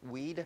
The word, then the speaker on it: Weide: Weide? Weed?